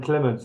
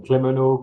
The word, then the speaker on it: Clement: Even my first name, Clement, which is pretty, I would say, bog standards, even in the UK, it's like you would be surprised, like the amount of pronunciation and spelling I had for Clements. I had some Clemeno, Claremont, all sort of things.